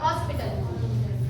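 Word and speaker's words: hospital: तो ऐसे हॉस्पिटल, हम बोलते हैं हॉस्पिटल, लेकिन क्या होता है हॉस्पिटल, एच जो है उसमें साइलेंट होता है, तो हॉस्पिटल के साथ क्या लगाएंगे?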